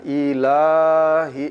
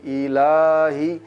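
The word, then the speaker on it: إِلَٰهِ: Kemudian pada ayat ketiga, ila, la mat asli panjangnya dua harokat, jangan terlalu berlebihan dalam membaca panjangnya. Ilahi, ilahi, ilahi, ilahin nas.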